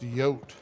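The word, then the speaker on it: Jote: this last message oh her name is pronounced yote right why did that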